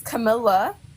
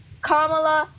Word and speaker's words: Kamala: accents here right and no one's saying her name is Camila her name is Kamala Kamala it's literally all about